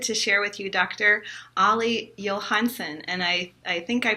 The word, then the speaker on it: Olle Johansson: Olle Johansson and I I think I pronounced it right because my last name used